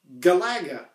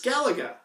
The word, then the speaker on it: Galaga: And I've heard some people refer to this sequel as Galaga, kind of rhyming with Galaxian, Galaga. But that doesn't sit right with me. It's like, no, it's Galaga.